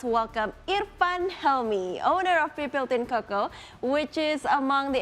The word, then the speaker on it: Pipiltin: Pipiltin cocoa is okay.